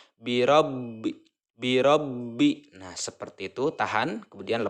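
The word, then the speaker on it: بِرَبِّ: kita cara membacanya itu harus tertahan ya harus tertahan ditekan bacanya biro-biro besar laba pertama disukunkan kemudian dilanjutkan kebayang berharakat kasrah birabbi birobinas seperti itu Tahan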